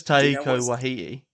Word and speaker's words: Taika Waititi: but I know it's Taika Waititi. What a weird way to pronounce his name. How do you say it? I like Thor Ragnarok. You did that right.